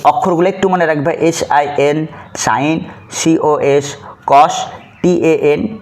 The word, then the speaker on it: sin: সাইন, এটার উচ্চারণ হলো সাইন, তারপরে কোসাইনের পুরাটা ব্যবহার করি না, শুধু COS প্রথম 3 অক্ষর ব্যবহার করি, তাহলে কস, তারপরে এখানে বসবে কোণ।